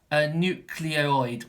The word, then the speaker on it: nucleoid: the central area is that it's called a nucleoid when it's spelt n you see l EO i d--